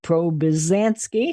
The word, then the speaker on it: Probizanski: Nancy Probizanski, she has 4 syllables in her name.